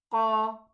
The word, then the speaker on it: qaf: Okay, what about the kaf? It's pronounced from the same area, almost the same area, but it is not elevated. We say ka and we say qa. The difference is recognized.